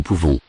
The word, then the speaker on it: pouvons: Nous pouvons. Nous pouvons. Don't pronounce the final S.